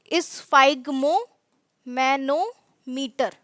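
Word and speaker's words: sphygmomanometer: बोलते हैं स् फाइगर स्पेलिंग थोड़ी सी ज्यादा बड़ी है लेकिन प्रोनंसिएशन बहुत आसान है इस फागम मैनोमीटर ठीक है एक ऐसा डिवाइस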